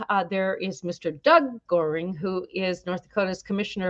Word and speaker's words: Goehring: might just recognize her maiden name which was Goring some people pronounce it gearing but we always knew it is boring and